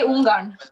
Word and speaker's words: Ungarn: But we say Ungarn. Ungarn. What? Wait, what? What did you say? What did you say? Whoa. What did you say? I said in Norwegian we say Ungarn.